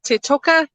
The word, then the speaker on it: Toteka: So I understand you run a Hope Toteka. Is that how you pronounce it? Yes, Toteka.